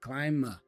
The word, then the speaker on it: climb: we say climb aboard the be for climb is actually silent we don't say climb so he pronounced the M as the last sound and then you can